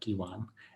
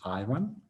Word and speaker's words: Ivan: yeah it's i understand it's really tricky to pronounce like iran but people in eastern europe will be extremely grateful if you do it like e1 and not i1 you know i went